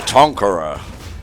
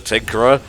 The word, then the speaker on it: Tinkerer: up no it's me the tonkara you mean the tinkerer no they've just been saying it wrong all this time and i didn't